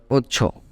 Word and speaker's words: ocho: English called siete okay eight in English called Ocho you can pronounce it perfectly by splitting into two terms